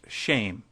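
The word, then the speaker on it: שֵׁם: Hebrew word for name, which is Shem, pronounced shame.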